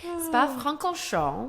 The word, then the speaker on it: Spa-Francorchamps: So, Spa-Francorchamps. There you go. That's how it's supposed to sound, y'all.